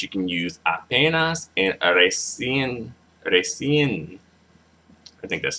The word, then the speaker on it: recién: Yeah, I think you pronounce it recién, with an emphasis on the en, apenas and recién.